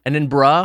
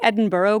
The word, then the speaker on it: Edinburgh: Edinburgh. I did say Edinburgh growing up because I think it was like, it felt like a borough.